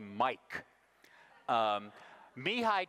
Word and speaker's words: Csikszentmihalyi: pronounce his name and he said call me Mike me hi csikszentmihalyi is talking here